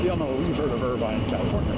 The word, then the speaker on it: Irvine: Like you know, we've heard of Irvine, California, right? Well, we have an Irvine, Kentucky, except it's not Irvine. It's Irvin.